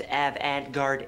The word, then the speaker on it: avant-garde: totally AG totally what avant-garde it's pronounced Avant guard a all right just